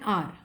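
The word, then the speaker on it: hour: is silent there is no sound of एच इन the words honest and आर मैंने क्या बोला nest and हार नहीं है ऑनेस्ट एंड आर है दीज वर्ड्स स्टार्ट विद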